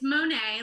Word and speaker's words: Moinet: so first question before I introduce you: correct pronunciation of your last name, Monet, Moignet. Are we being Yeah, super French? How are we going? yeah, my dad, it's Monet, like the painter, but I think if